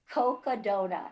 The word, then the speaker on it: Cocodona: pronounce that? Cocodona. It's Cocodona.